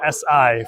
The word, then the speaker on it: Si: I offended anybody by calling it a Honda Civic C. It is an SI for anybody who is uh wanting to make sure they pronounce and uh say the name of the car correctly.